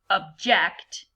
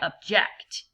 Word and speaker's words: object: difficult defector disinfect reject object and you hear how I'm using the schwa sound in the first syllable I'm using this as a verb so like a judge would say I object okay memorize and legalize so